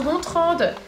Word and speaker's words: Gontran: a pas parlé bonjour je m'appelle Gontran mais ça se prononce contre je m'appelle René dans